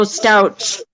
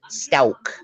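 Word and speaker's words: Stauch: Oh, Stouch. Yeah, it's actually Gannon pronounced Stauk. Oh, is it Stouch? Yeah, it's a hard K sound.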